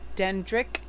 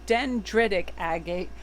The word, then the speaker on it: dendritic agate: goddess laxmi and the dendrix it's dendritic agate I always forget that last syllable in it so let's see what